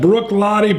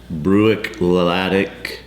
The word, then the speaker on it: Bruichladdich: We got Bruichladdich Black Art's 4.1, or as Bruno says it, Bruichladdich. Bruichladdich. Something. And Gaelic pronunciation problems.